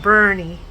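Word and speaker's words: Boerne: in San Antonio area, Bernie, Texas, and it's pronounced Bernie.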